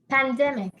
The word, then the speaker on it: pandemic: And the next word is Pandemic. okay. Pandemic. So, and please, if I had pronounced it the wrong way last time, I would like to correct.